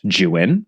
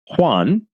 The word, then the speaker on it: Juan: a heads up about this first name here jwan which is spelled juu an he kindly let me know that it's pronounced Jan and not Juan as is definitely my first inclination living in Spanish language infused Los Angeles as I do not that